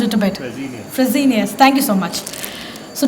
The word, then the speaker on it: Fresenius: Did I mispronounced it a bit? Fresenius, thank you so much.